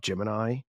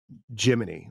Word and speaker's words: Gemini: that we do is the intentional misprononunciation of Gemini. The way that like real insiders say it like the way you say it is Jiminy like Jiminy Cricut.